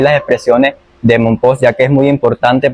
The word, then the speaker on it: Mompox: Bueno, el mismo la misma palabra de Monpos, algunos lo pronuncian con X al estilo al estilo español, otros lo pronuncian con J.